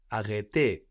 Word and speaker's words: arrêter: To stop in French is arrêter, arrêter, to stop. Arrêter. That's spelled A-R-R-E with a little hat on it, T-E-R.